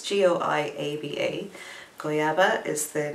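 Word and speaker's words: goiaba: as reading the handwritten thing so it's g-o-i-a-b-a goyaba is the name of the color this really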